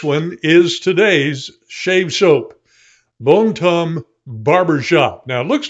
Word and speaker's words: Bon Temps: for, and this one is today's shave soap, Bombe Tombe Barber Shop. Now, it looks like it should be Bon Temps, but it's pronounced Bombe Tombe, which means good times.